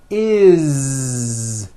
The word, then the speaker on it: is: always add the ending is with a voiced Z. Is. It doesn't matter that it's spelled with an S. It's never is, unvoiced, never. It's always is with a voiced Z.